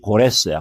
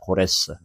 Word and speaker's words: 고레스: 여러 발로가 있지만 출애굽 시대 때 바로가 특별한 바로였고 그다음에 바하사 페르시아의 대표적인 왕이 고레스야. 고레스. 고레스 들어보셨죠? 고레스. 영어로는 사이러스라 그러는데 발음을 우리 식으로 발음한 겁니다.